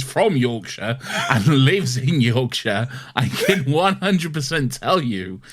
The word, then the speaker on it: Yorkshire: As someone who is from Yorkshire and lives in Yorkshire, I can 100% tell you it's Yorkshire.